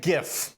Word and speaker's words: GIF: I actually know it is GIF, and anyone who says otherwise is a monster. And Graphics, let the record- interchange, format. graphics. No, Commodore Frost just said it's pronounced like GIF with a J.